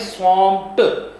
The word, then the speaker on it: swamped: अच्छा, ये देखिए इसकी प्रोनाउंसिएशन किस तरह होगी? स्वॉम्प्ड, टी की आवाज़ आएगी। लिखने में ED है, लेकिन हमने स्वॉम्प्ड।